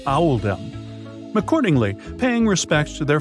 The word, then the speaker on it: Oldham: made to reflect the pronunciation of Oldham in the local accent which is Owl them accordingly paying respects to